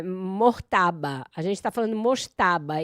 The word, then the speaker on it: Mojtaba: Olha, a pronúncia que eu ouvi aqui nas nas redes internacionais é Mortaba, como se fosse um R mudo, mas eh prometo a